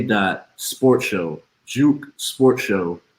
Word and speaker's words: J.U.K.: j dot u dot k dot sport show juke sports show not jukeboy sports show sports show um follow me as